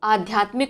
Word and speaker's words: आध्यात्मिक: इसे बहुत लोग आध्यात्मिक पढ़ देते हैं, इसीलिए परीक्षा में कई बार क्या होता है, छोटा आ लिख के आता है। तो आध्यात्मिक होता है, अभी से सही इसका उच्चारण करना शुरू कर दीजिए। क्या है, आध्यात्मिक, बड़ा आ है और बड़ा या है, ठीक है। आध्यात्मिक, माँ में छोटी की मात्रा है।